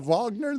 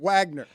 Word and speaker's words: Wagner: Well, but I was so tempted to pronounce it Wagner, but Vagner puts an ex extra little flare on Holy Terry.